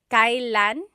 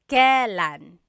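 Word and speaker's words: kailan: It's pronounced kylan kylan but you will often hear it pronounced kalan.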